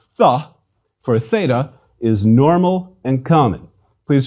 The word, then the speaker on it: theta: please repeat eta a theta theta is equivalent to th some choose to pronounce theta as an aspirated t but our t's in